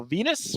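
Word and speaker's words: Val Venis: heat matches Raven defeating Val Venus rhymes with supposed to say penis penis there you go very good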